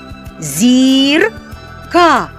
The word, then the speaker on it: зірка: Знаходимо наголошений голосний звук. Для цього вимовляємо слово дуже емоційно. Зірка. Зірка. На який голосний падає наголос? На звук і зірка.